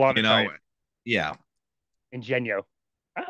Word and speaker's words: Ingegno: It's funny because it's one of those things where even fluent Italians might mispronounce it, and it's full Interesting. on Italian. Full on You know, Italian. yeah, Ingegno.